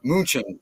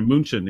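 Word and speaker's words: München: was a great game in Munich yeah or Munchen actually is how they pronounce it but we call it that's right I've been there moonshin exactly remind me to talk to you about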